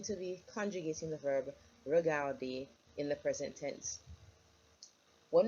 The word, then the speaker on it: regarder: Because remember, in terms of pronunciation, the ER, we're going to pronounce it like an A. So let me not hear you say regarder. Okay, it's regarder.